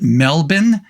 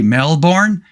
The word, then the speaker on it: Melbourne: I guess if you're from Australia, at least I was told, you pronounce it Melbourne. You don't say Melbourne. If you say Melbourne, you're a tourist.